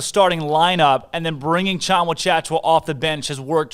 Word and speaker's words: Tchamwa-Tchatchoua: Tchamwa-Tchatchoua. There we go. Just like it's spelled. Oh, yeah, exactly like it's spelled, with just more consonants. He's, without a doubt, with Tchamwa-Tchatchoua, I think it's consensus that he's better than Flo Thamba.